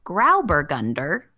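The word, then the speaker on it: Grauburgunder: it Peno graio and the Germans call it grow bur Gunder because grow also translates to Gray and that's spelled g r auu grow bergund and in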